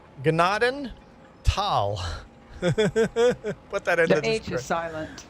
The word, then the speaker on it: Gnadenthal: is not silent pronounced gennaden tal. Put that in the description. The H is silent. The H is silent. The G is not silent. The H is silent.